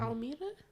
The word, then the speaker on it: Imelda: Almeida? Imelda. I heard That was the one. name of it, Imelda.